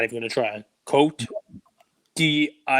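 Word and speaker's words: Côte d'Ivoire: Cote d'Ivoire. It's Ivory Coast. I'm not even going to try. Cote d'Ivoire. Cote d'Ivoire. And it's DVR, like a TiVo? DVR. Yep. Cote d'Ivoire. Coat your DVR.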